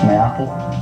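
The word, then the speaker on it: Maetl: matal yeah I mean that's spell m a e t l and people don't know how to say it but it's mayle yes me Apple cuz cuz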